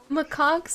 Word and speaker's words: macaques: Pronounced macaques, I'm not joking.